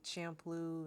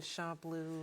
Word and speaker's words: Champloo: Some people say Champloo and Champloo and Samurai Champloo. yeah. I just say that. That's what I say. Yeah. I think that's correct too, because it's CHA, so it wouldn't be shampoo.